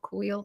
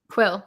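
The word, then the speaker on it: Kuiil: and I feel like he's kind of like wheel I always get his name wrong quill yeah it's kind of Quill's Legacy like the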